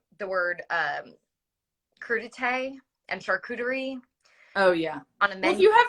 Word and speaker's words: charcuterie: so how about that but you do like sharp cutery though i love charcuterie but after mispronouncing those in front of actually a writer